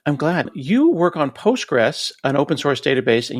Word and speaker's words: Postgres: Just say Postgress and that keeps it simple. But yes, when you when you spell it with the full official name, there is a there is a QL tagged on to the very end of it.